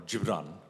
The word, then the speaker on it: Gibran: read it first, but Khalil Gibran, or Gibran, is the right pronunciation, the Lebanese philosopher, he said, love the idealism of youth and the wisdom of age.